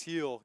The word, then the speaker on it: Gil: well someone man Luis heel Garrett pronounce it no no G they say the G is like an H Luis heel has been